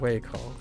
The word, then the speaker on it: 胃口: It's not coal, it's way. Stomach. Appetite. That's how you say it. Way coal.